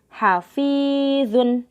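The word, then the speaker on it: حافظون: Hafizun. Dibacanya panjang fi-nya. Jadi jangan dibaca pendek. Bukan hafizun. Tapi hafizun.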